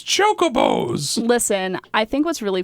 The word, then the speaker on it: chocobos: horses and every game called chocobos uh but my dad pronounced them Chewbacca I love it and